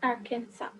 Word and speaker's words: Arkansas: Though it is written as Arkansas, but we pronounce it as Arkansas, right?